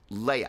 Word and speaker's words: Leahy: And Jules Leia, I think it's the way you pronounce it. In any case, Leahy, there we go.